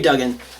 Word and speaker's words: Duggan: said do you know I said Dugan maybe I sing him dumb dumb Dugan but Gary Duggan I'm saying it wrong okay Duggan he's been doing great